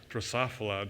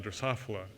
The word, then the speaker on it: Drosophila: organisms this morning i was really impressed uh drosophila drosophila i remember the first time i said that